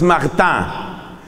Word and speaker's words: Martin: franceses de apellido Mart eso se escribe Martin pero se pronuncia en francés mará los los esposos de